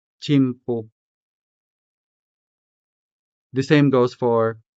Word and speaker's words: tiempo: So, tiempo could be said as tiempo tiempo.